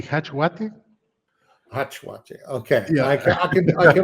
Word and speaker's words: jachLog: In Spanish, I say hachwate.